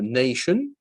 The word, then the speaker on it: nation: D'autres exemples tout simples, nation et c'est pas une évidence que t i en anglais ça fait ch.